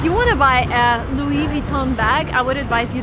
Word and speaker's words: Louis Vuitton: of the shop is Louis Vuitton again everything is French come on so everything needs to be pronounced in a French way if you want to